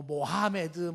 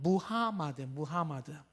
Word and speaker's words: 무하마드: 이거를 만든 창시자를 우리가 뭐 모하메드 뭐 발음이 여러 가지가 있는데 표준적인 발음은 무하마드.